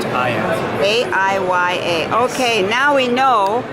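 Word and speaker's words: Aiya: And is the company called Aya, A-I-Y-A, pronounced Aya.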